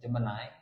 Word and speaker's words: Gemini: Kita menyebutnya Gemini. Ternyata cara bacanya Jemenai ya.